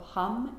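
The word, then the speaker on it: ham: And then activate that space with the sound, the syllable of hum, H-A-M.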